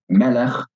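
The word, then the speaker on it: מֶלֶךְ: So, melech, king, is accented at the beginning of the word.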